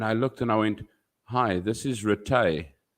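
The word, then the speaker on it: Rithy: to to look uh we have got names here called retay and it's spelled r-i-t-h-y so when you sent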